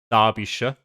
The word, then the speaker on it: Derbyshire: I also just looked up as well because I was pretty sure like Shire is pronounced like not Shire. I just couldn't really get my tongue to make sense of Derbyshire.